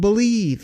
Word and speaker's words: BLEAV: That's called Believe, and that's spelled BLEAV in Lions, Believe in Lions, with myself and Lions legendary safety, Benny Blades.